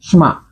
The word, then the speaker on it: shemagh: This is what's called a keffiyeh, or I think in Jordan, I think they call it a shmah, and it's spelt S-H-E-M-A-G-H, shmah.